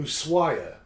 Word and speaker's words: Ushuaia: And I keep deleting it, the thing, thinking I won't need to remember how to pronounce it. So I knew I was going to... Ushuaia is what it's called.